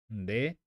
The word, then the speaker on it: nde: Pronomes pessoais, que vai ser então she, nde, nde, se pronuncia assim.